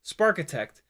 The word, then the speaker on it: Sparkitect: Rhymes with architect? Sparkitect. Oh.